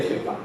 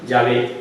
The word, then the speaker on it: Yahvé: Pues está bien, porque todos los hebraístas modernos, los que estudian el idioma hebreo, están de acuerdo que la manera original y primitiva de pronunciar el nombre de Dios debía ser Yahvé y no.